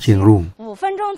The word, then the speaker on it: เชียงรุ่ง: 1 เมื เ เมือง เชียง หุง นี่ ก็ คือ เมือง เชียงรุ่ง ที่ เรา ออก เสียง ว่า เชียงรุ้ง คำ นี้ ใน ภาษา จีน ก็ ออก เสียง ว่า จิงหง เมือง เจียง ตุง ใน